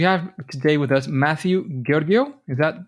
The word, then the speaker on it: Georghiou: Georghiou is what I say, although that's not quite the correct spelling, but I say it that way, a pronunciation, to make it easy for people.